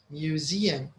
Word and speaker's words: museum: There's a stress in the middle. Museum.